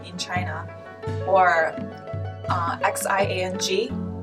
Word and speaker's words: Xiang: Or X-I-A-N-G. Xiang.